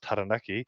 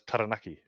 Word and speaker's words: Taranaki: will literally taught that the correct way on radio to pronounce Taranaki is Taranaki oh no Taranaki I think it was Taranaki oh really yeah the correct pronunciation is Taranaki and yeah and that's